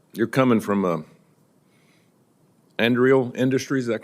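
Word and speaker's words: Anduril: First of all, u, you're coming from Andreal Industries. Is that correct? Is that how you pronounce that? Andal Senator.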